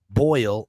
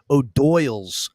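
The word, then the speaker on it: O'Doyle: uh Billy Madison but it's not boil it's uh they don't say the name isn't boil rules it's OD Doyle's OD Doyle rules doy so he's saying it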